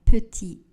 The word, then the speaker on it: petit: Le T à la fin du mot lait ne sera pas prononcé.